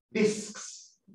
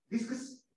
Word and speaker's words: discs: Cuando manejan esta, esta ya sale al filo. Discs. Alarguen la primera S. Perfecto. ¿Sí? ¿A ver usted? Está pasando muy piola. Discs.